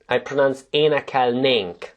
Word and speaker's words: énekelnénk: This one, I pronounce énekelnénk, like if there was no N, but it's there but not being emphasized.